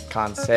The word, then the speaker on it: Kansei: So it is Kansei. Kansei. Kansei. Okay. Like Jose Canseco. Okay. You know, like Kansei. That's how I originally started saying That it. is how you say it.